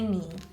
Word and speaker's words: knee: In knee, the kicking k is silent. We don't say knee, we say knee.